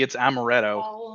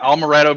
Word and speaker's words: amaretto: l in it honestly it's amaretto i'm calling it almoretto because it's got almonds in it i guess but there's no l in it so i'm just pronouncing